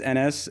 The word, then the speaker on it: Anas: So my name is Enes, and usually the easiest way I can get people to remember that is it's like tennis without the T.